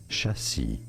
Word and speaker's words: chassis: it is said as chassi silent S at the end because it's French in English both British and American pronunciations are similar as Jassie Jassie jie is this true chassis chassis chassis chassis okay and